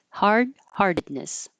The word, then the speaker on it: heartedness: release the DU harded the first T this well the only T heart you will change to a d and then this D you won't hear at all so it'll sound like harded hardness hard heartedness hard heartedness courtne this is another